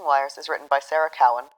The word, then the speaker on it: Cowan: Crossing Wires is written by Sarah Cowan, whose surname is not pronounced Cohen, and Ziggy Schutz, with sound design and music by Jack Strudwick.